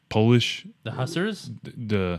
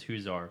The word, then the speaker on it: Hussar: You're saying it right. I think it's Hussar. For some reason, Yeah. I had always read it as Hussars.